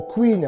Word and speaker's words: Kouign: Alors, chumpote, hein, on prononce chumpote, donc c'est le mot queen, hein, K-O-U-I-G-N, queen pot, qui est le sens de gâteau.